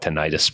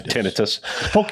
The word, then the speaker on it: tinnitus: ringing of the year I call it tinnitus but I know the pronounce pronunciation is tinnitus um represent uh clinical